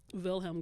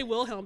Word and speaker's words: Wilhelm: But I think in German, like the W does make the V sound. It does. Yeah. I'll just say Wilhelm because I'm straight up